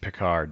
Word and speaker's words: Pickar: my friend say your last name picard picard okay i was i was gonna